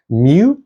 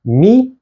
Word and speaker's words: Mu: is the lowercase newu new is sometimes also called ni so we can call these mu and new or we can call them me and ni this letter is called